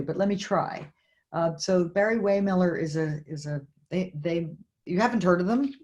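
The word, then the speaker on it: Barry-Wehmiller: Barry Waymiller, is that how you pronounce it?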